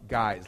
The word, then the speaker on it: Guise: Guys is spelled G-U-I-S-E. Tough Guys, like disguise.